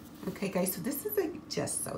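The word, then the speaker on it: Gesso: show you why okay guys so this is just so it's pronounced just so even though it's G okay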